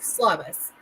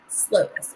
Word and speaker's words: Slovis: So let's talk about Pitt's quarterback, Slavis. Is that how you pronounce it? I've seen Slovis. Yeah, I think as Slovis. Slovis.